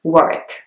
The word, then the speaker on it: Warwick: next one is Warwick Warwick has a W in the middle but it's not pronounced so you don't say Warwick you actually have to say work the next place is